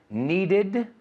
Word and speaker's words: needed: Needed, decided. Aquí se pronuncia la E.